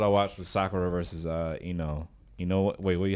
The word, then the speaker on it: Ino: Last episode I watched was Sakura versus Ino. Wait, how you say her name? Inoue? No, Ino.